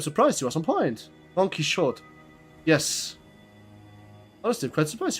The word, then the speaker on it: Don Quixote: Don Quixote.